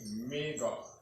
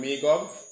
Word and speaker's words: Magog: So this is Magog. Pronunciation in the Hebrew is Magawag. Right? Pronunciation is Magawag. That's Magog. In the Hebrew, get this. So that's Magog or Magawag in the ancient Hebrew.